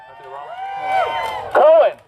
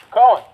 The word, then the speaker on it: Cohen: Cohen. Said it wrong. Cohen.